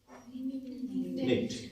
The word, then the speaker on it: knit: KNIT, निट। निट क्या हो गया, बुनना। ये भी एक रूल आएगा आगे, के के बाद एन आता है तो के साइलेंट होता है, आगे अपन रूल करेंगे।